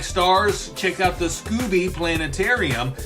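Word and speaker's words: Scobee: Now, if you like stars, check out the Scooby Planetarium. The Scooby Planetarium is spelled S-C-O-B-E-E.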